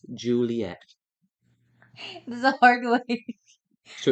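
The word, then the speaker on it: Ghiuliyette: t t e pronounced Juliet this a hard way so it's spell it they spelled it like gulet but they say it Juliet I'll spell that again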